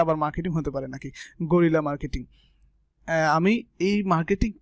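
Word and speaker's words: guerrilla: এই ক্লাসে আমরা আলোচনা করব what is গরিলা marketing. What is গেরিলা আসলে উচ্চারণ হচ্ছে গেরিলা, গরিলা। আপনি গরিলা যেটা উচ্চারণ করতে পারেন করবেন।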